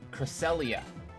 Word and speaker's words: Cresselia: But it's Cresselia.